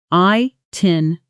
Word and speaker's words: itinerary: I-tin-er-ary. Now, at natural speed, itinerary. Notice the middle syllables compress slightly. Er-ary almost blends into 2 quick beats rather than 3 separate ones.